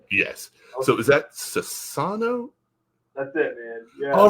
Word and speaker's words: Sassano: I don't know that I typed it right, but is it Sassano, right? I got it all Yes, right on there. yes. Okay. So is that Sassano?